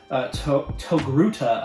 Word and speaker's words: Togruta: So if you don't know, her race or species is Togruta, I believe is how it's pronounced.